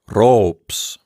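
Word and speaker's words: ῥώψ: see here is pronounced ropes it starts with the letter rho with a rough breathing as it's required to have and then we have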